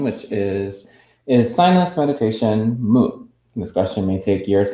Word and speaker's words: mu: whereas the contemplation of mu which is the japanese pronunciation the chinese pronunciation is